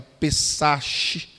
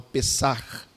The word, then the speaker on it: pessach: é a palavra Hebraica pessach alguns pronunciam assim mas O Judeu pronuncia com som de R no final pessar que significa passar por cima e a origem está